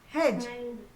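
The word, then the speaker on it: hedge: ए पी T left over over small green हैेज हैेज क्या होता है इसमें डी साइलेंट हैे हैे हैे हैे हैे हैे हैे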